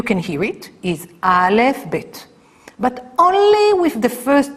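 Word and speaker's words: בית: v v v so when we have the dot inside it's B and when we don't have a dot inside it's V two kinds of pronunciation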